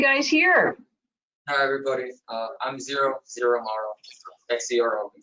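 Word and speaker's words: Xero: I'm Zero Amaro, X-E-R-O, we spell it.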